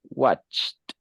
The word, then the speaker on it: watched: watched watched this one the sound is more like a t watched yeah right excellent very